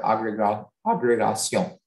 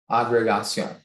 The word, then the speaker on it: agrégation: in front of a committee to pass their agrégation. Could you repeat the language of origin, please? It's from French. Could you repeat the pronunciation? Agrégation.